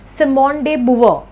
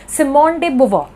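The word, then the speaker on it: Simone de Beauvoir: This is actually a French name. ठीक है, तो इसमें इसको फ्रेंच में प्रोनाउंसिएशन किया जाता है, बट नॉर्मली मैं बता दूं कि हम लोग क्या बोलेंगे, इसको बोलेंगे सिमोन डे बुवर।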